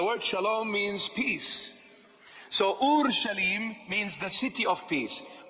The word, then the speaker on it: Ur Shalim: This is the proper pronunciation of the word. It's not Jerusalem, it's Ur Shalim.